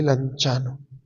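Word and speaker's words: Lanciano: Cuando ustedes vayan a Italia, hagan el esfuercito de ir a ese pueblito llamado Lanchano, se escribe anciano, se lee Lanchano.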